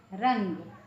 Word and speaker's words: रंग: है जैसे क्या है जैसे रंग रंग हुआ या निंदा हुई निंदा है तोय न अलग से बोलेंगे रन निकल है रंग निन द है ना तो आधा न जो है इसको अलग से बोला जाता है य आधा ठीक है